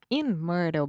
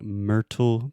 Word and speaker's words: Myrtle: And technically, I would say this is a flap T. So we have 3 different T sounds in English. And I'm normally not saying Myrtle Beach. I say Myrtle Beach.